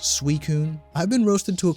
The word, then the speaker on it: Suicune: name how are you supposed to know it's pronounced suicune i've been roasted to a crisp on the